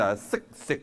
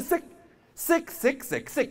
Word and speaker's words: 食: 就是举这个例子，sick 饭是吧？它不是 sick，它都不是 sick 饭啊，sick 饭它在下面啊。